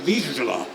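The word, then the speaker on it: Vizsla: Hungarian and you know the character's name you pronounce it wisla but officially it is a Hungarian dog breed name called Visa it's a Hound so do you know anything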